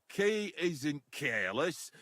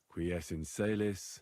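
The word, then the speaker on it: Qui es in caelis: You're saying it wrong. Listen. It goes like this. Pater noster. Qui es in celis.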